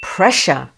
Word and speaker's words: pressure: And the two words are yes, the correct answer is A, pressure. Here, two S's together in the middle of the word pronounce sh, pressure, whereas two S's at the end of a word produce s.